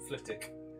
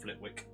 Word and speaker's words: Flitwick: I'm from fck well Fick um which for anybody who's a Harry Potter fan that's how you pronounce it Fick not Flitwick ftic um thing is across